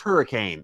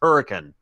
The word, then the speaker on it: Hurricane: just pronounced it incorrectly because it is not pronounced hurricane it is pronounced hurricane yep it should we do in Missouri anyway